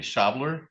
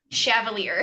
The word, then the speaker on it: Shavalier: So pronounce that for me. Shaveler. Chavalier.